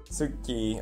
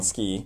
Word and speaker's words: Tsuki: Tsuki, or we pronounce it wrong, ski, means moon in Japanese, so it fits with pajamas already.